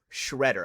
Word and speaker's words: Schroeder: It's not like Nate Schrader, Schmoder, Motor. No, yeah, no. It's actually Schroeder, but yeah, I just got the nickname Shredder like back in the